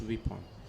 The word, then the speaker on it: weapon: Some people pronounce it as weapon.